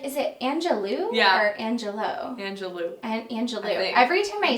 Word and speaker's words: Angelou: I love the quote by Maya Angelou that says, I always forget... I'm like, is it Angelou or Angelo? Angelou.